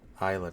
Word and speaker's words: Isla: And then the women's IC title is going to be Isla Dawn. Always want to pronounce the S.